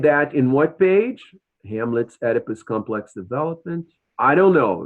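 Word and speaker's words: Oedipus: Jones According to Jones how did hamus no I told you already that it's edus ER write down the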